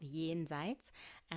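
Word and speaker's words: Jenseits: half german and yeah it's basically a german word it's called yi insights and it has the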